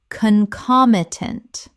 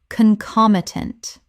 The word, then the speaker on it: concomitant: Word 252 concomitant Common mispronunciation concomitant Correct pronunciation concomitant Four syllables with the stress on the second.